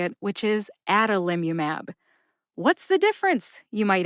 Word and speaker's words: adalimumab: how you say it the first and third syllables are emphasized that's the a or